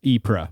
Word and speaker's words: Ypres: Is that the right pronunciation? Boche? Sure. Or maybe Boch, because it's... Yeah, it looks... Oh, and it's Ypres, by the way.